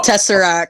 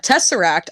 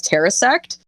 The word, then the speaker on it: tesseract: okay when i first seen the word uh tesseract i my brain did not process the s before the r it went the other way so for the last like 10 years i've been pronouncing it as terrasect so when i made